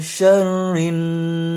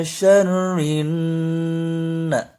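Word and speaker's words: شَرٍّ: Sebelumnya ayat keempat itu wa min syarrin. Nah, ini pun bagian syarrin itu gunnah mesti ditahan dan didengungkan.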